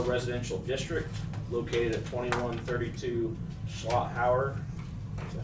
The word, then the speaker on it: Schlotthauer: Reservoir East Shore Residential District located at 2132 Schlotthauer. Is that how you pronounce that?